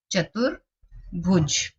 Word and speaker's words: चतुर्भुज: र का उच्चारण त के बाद आ रहा है इसीलिए ये त के बाद ही लगेगा, चतुर्भुज। ध्यान रखेंगे इसका।